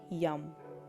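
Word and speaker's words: yam: বারবার আপনি এই অ্যাফারমেশন টাকে এই মন্ত্রের সাথে উচ্চারণ করতে পারেন মনে রাখবেন হার্ট চক্রের মন্ত্র হচ্ছে ইয়াম ওয়াই এম নেক্সট চক্র হচ্ছে থ্রোট চক্র থ্রোট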